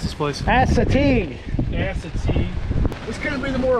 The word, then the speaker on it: Assateague: So there we were, enjoying a beautiful, sunny, amazing evening here at how do you pronounce this place? Assateague.